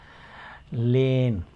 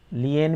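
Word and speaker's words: lien: लेन, लियन भी कुछ लोग इसको पढ़ते हैं, कुछ लोग लियन पढ़ते हैं, कुछ लोग लेन पढ़ते हैं, जो भी इसके प्रोनाउंसिएशन हो।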